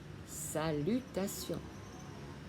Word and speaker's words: salutation: T-I-O-N, âm đọc là sion, salutation.